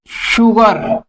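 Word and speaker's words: sugar: she shine और guys जब एस के बाद यू लग जाता है तब इसका तब भी इसका साउंड हो जाता है श श जैसे शुगर इसमें गाइस शुगर शुगर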